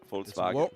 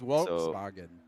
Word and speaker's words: Volkswagen: In in German it's Volz Folkswag Volkswagen. I thought it was Volkswagen. Somebody in my chat told me the other day it's more like an F, but maybe uh maybe Volkswagen.